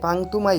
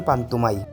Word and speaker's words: পান্তুমাই: বাংলাদেশের সবচেয়ে সুন্দর গ্রাম যদিও অনেকে একে পাংতুমাই বলেন কিন্তু এর সঠিক উচ্চারণ পান্তুমাই গাইস এখন আমরা জর্নার